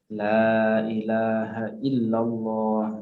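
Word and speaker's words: لا إله إلا الله: Jadi jangan kita membaca la ilaha illallah, la ilaha illallah, atau sebagian orang kan ketika tahlil la ilaha illallah. Jangan seperti itu. Tapi kita bacanya apa? Ada matnya, yang panjang dipanjangkan, yang pendek dipandangkan, yang pendek dipendekkan. La ilaha illallah. Ini ya, ini perlu diperhatikan.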